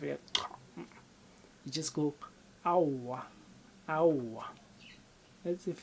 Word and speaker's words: aowa: When you say no, you say auwa.